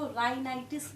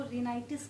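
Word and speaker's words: rhinitis: कई लोग इसको राइनाइटिस भी कहते हैं, कई लोग इसको रिनाइटिस भी कहते हैं, बट इससे इसके स्पेलिंग पे कोई फर्क नहीं पड़ने वाला है, ठीक है।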